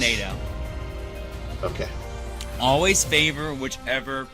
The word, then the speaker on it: Naganadel: It's Naganadel. Okay. Always favor whichever pronunciates more words.